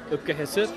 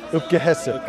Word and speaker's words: Opke-hisip: Okay, we're going to call it Opke-hisip. Opke-hisip, okay.